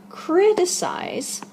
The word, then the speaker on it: criticize: one note about pronunciation criticize as the infinitive has three syllables but remember because it's